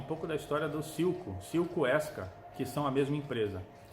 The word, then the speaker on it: Esca: nome passou a ser Esca. E S é o som, como se pronuncia a letra S de Sylvan. E o kosher, o K, SK. O K é o som da letra K de kosher.